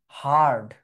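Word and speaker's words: heard: এখানে এটার উচ্চারণ হচ্ছে হারড।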